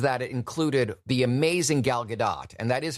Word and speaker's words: Gal Gadot: it included the amazing Gal Gadot, and that is how you pronounce her name, by the way. The T is not silent.